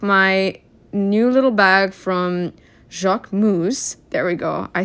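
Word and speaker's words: Jacquemus: I took my new little bag from Jacqu Moose.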